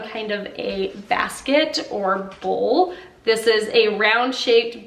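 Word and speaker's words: boule: The first word is a bowl, not to be confused with a mixing bowl, but a bowl.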